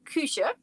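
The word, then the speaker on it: Küche: Kusha. You pronounce it cusha and that's kitchen.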